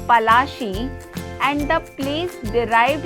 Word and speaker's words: Palashi: Plassey is an anglicized pronunciation of Palashi, and the place derived its name from the Palash tree, known for its beautiful red flowers that yield gulal.